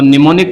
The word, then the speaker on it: mnemonic: हो जाएगी ठीक है तो निमोनिक कोड है ये जिसमें एम साइलेंट राहत है ठीक है गूगल